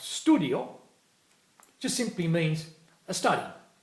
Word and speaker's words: studio: Studio, being an Italian word, pronounced studio, just simply means a study, something that you learn.